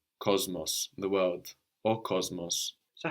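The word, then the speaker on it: κόσμος: The word for world, like in cosmopolitan, is cosmos. This is spelled with an S in Greek, but we hear a Z before that M. Cosmos, the world, or cosmos.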